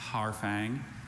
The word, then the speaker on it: harfang: There's only one pronunciation. Harfang.